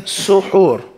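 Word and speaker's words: سُحور: The first way is saying suhoor.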